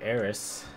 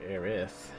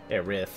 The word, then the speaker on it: Aerith: Yeah, I also did some more research, and apparently Eris, with the S, is the American adaptation of Aerith, with TH, only because in Japanese, they pronounce it as this, as if it was an S.